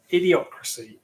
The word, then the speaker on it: Idiocracy: Idiocracy is the pronunciation I was looking for.